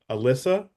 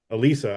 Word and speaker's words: Alisa: And uh we are privileged and honored to have um Alyssa. Alisa, I keep saying your name wrong.